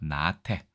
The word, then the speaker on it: 나태: 자, 앞 글자가 장음으로 되어 있네요. 나태.